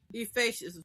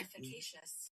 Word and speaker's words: efficacious: Ephacious, right? Ephacious. So there you go. Well, all right. Efficacious. E Oh, I said it wrong.